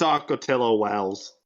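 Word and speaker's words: Ocotillo Wells: Is it Wells? I thought it was Hills. Anyway, I didn't say that, but It's Acotillo Wells.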